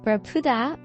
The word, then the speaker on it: barracuda: The first was barracuda is stress on the peanut.